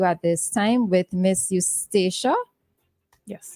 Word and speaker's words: Eustacia: So we are we are going to conduct an interview at this time with Miss Eustacia. Yes, Eustacia. Eustacia Walters. I wasn't sure if I pronounced it correctly.